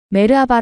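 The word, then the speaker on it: Merhaba: " 메르하바 " 라고 발음 하면 돼 요 ."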